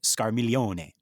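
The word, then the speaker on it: Scarmiglione: So I think that is Scarmilione. Yeah. Right. You don't say the G, right? Right. It's like you don't say Pagliacci, you say Pagliacci, right?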